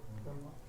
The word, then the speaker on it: Brahma: In the book, is there a long A at the end of Brahma? Are you on the right? No. I believe so, yes. Okay. Yeah, Brahma.